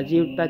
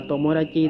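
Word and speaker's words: 友達: Trong trường hợp này nó không đọc là Jiu Ta Trừ, nó đọc là Tomodachi thì các bạn nhớ là nó đừng đọc bằng hệ âm cưng á.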